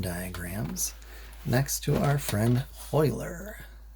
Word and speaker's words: Euler: to our friend euler you can kind of tell how much math someone's had by how they say that name if they've taken a fair amount of college math you'll hear them pronounce it as euler if not i usually hear it pronounced as euler these are most useful